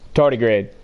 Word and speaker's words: tardigrade: Here, Google tardigrade. Oh, hold on. I don't. RDY. No idea how to spell it. I'm just gonna say it. Tardigrade.